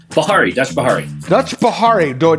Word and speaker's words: Bihary: Dutch how do you say your last name Bahari Dutch Bahari Dutch Bahari do I got to